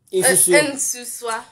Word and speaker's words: nsusua: Malaika, how do you pronounce this word? Nensua. No, Ensusa. Ensusa. Ensuso. Ensuswa.